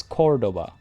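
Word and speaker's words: Córdoba: enjoying the show uh you should stress the first syllable of cordoba it's cordoba cordoba is that right it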